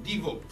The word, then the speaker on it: Divo: Ecco, è come quello, il famoso, l'attore famoso Divo. Il Divo, ecco, no, però con l'accento sulla O, ma quello poco importa, lo trovate comunque. Divo, l'applicazione di cartomanti europei.